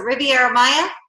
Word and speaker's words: Riviera Maya: Is it Riviera Maya?